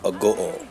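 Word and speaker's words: Agoo: You know when you're near the town of Oringai is when you approach the town of Ago. Sounds like au but pronounced a go.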